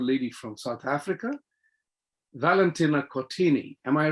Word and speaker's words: Cortini: Okay, so in Italian, we pronounce every single letter. So it's Cortini.